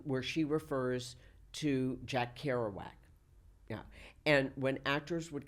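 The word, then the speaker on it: Kerouac: she refers to Jack Carowak. Yeah. And when actors would come in to read, many of them mispronounced Jack Carowak and said Jack Caroic.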